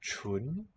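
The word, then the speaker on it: 純: It's pronounced chun.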